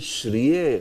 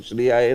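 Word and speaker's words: श्रिये: and then they understood, oh, it is Shriye. Oh, all these years we have been saying Shriyaya Namah, Shriyaya Namah, Om Shriyaya Namah, Shriyaya Namah. No, it's Shriye Namaha. So you pronounce it properly this way.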